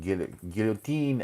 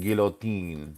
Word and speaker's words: guillotine: So it's pronounced two ways, and guillotine and guillotine.